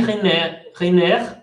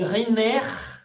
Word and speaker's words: Riner: Quiquempoix au tir et Riner, exception à la règle, le R final se prononce après un E, dans le judo.